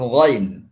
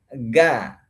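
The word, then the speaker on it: غ: Kemudian di sini huruf ghain. Huruf ghain ini kebanyakan saya temukan itu membacanya dengan ga, gairil. Ini nggak boleh baca gairil. Karena dia sifatnya tebal.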